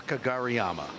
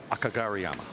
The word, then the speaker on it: Kageyama: fact he's just level today tall Yukio a Kageyama 3011 world nine ball chip yeah well the pronunciation I was doing earlier was the correct one but absolutely bow to your knowledge of pronunciations there Kageyama I might be able to say it but